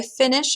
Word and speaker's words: finis: So I want to say I finish or I'm finishing. I'm going to drop the IR, replace it with IS. Je finis. All right, so the S is silent.